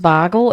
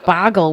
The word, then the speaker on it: Bogle: it the Bogle family I've heard it pronounced Bogle as well but I would say Boggle would be with two G's Bogle over six generations of